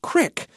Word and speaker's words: creek: Casually, you might hear people say crick.